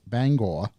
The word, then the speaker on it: Bangor: I live a half hour south of Bangor, Maine, and you have at least one listener in this neck of the woods.